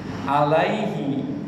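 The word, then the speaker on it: عليهِ: Jadi huruf mad dibacanya bukan pakai e tapi pakai i. Dalam abjal kita bukan bacanya alai tapi alai alaihi pakai i seperti tadi kita doa qunut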